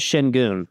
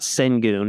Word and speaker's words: Şengün: His last name is Şengün. It's not Sengun. It's not Senguin.